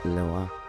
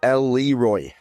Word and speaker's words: Leroy: We are here with Hugo, Lesizza from Perrelet and Leroy, or for my English speaking friends who have no elegance in their pronunciation, Perrelet and Leroy.